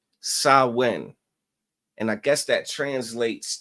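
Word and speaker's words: Samhain: celebrate is called um it's spelled s a m h a i n but it's pronounced sawin all right sawin and I guess that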